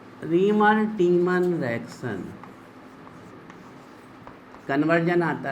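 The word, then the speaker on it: Tiemann: डालो heading reamer टीमन reaction. पता है इसका नाम क्या है? रीमर नहीं, टीमान नहीं, काटीमान, टीमन। रीमर प्रोनाउंसिएशन है।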